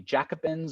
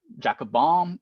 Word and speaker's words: Jacobin: of radicals political radicals known as the Jacobin or the uh jackob bom there are different ways of pronouncing it I think they